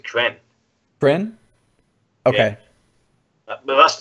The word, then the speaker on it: Kren: Is that Kreen? Is that how you say that? I pronounce it, for myself, I pronounce it Kren.